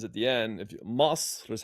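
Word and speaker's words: مصر: If you Masr is how you say Egypt in Egyptian Arabic.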